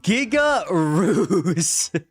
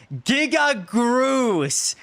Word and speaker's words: Giga Groose: Giga Ruse. Say it right, or I will... Giga Groose.